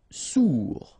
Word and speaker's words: sourd: Sourd, final D not pronounced, O-U together, ou, sourd.